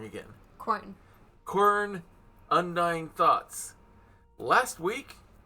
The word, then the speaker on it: Quern: Quern.